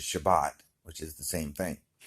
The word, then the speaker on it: Shabbat: Saturday, which is actually the Hebrew word for Sabbath, which pronounced in Hebrew is Shabbat, which is the same thing.